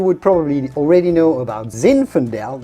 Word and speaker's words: zinfandel: probably already know about zinfandel that's how you must say it zinfandel from california which is a cousin